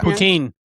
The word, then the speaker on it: poutine: Is that how you pronounce it? Poutine. Yeah. Poutine.